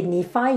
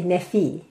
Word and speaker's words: Nephi: In Turkey, you wouldn't say Nephi, you will say Nefi.